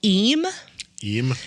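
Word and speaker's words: Eyam: found that in the village called e e it's spelled e y a m okay and it's in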